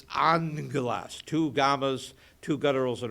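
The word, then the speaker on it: ἄγγελος: So it's A-N-G-E-L in the pronunciation. Angelo, or angelas. It's not agagas, it's angelas.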